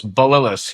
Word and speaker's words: Bililies: You're very close. Balis. Yes.